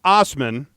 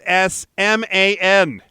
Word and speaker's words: Assman: unacceptable slogan you see even though his last name is pronounced Osman it is spelled as M an and it looks like it would be pronounced asman Dave says of his